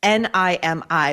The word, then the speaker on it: Nimi: And that's why I want to talk to you today about Nimi Skincare. That's N I Mi, but is pronounced Nimi.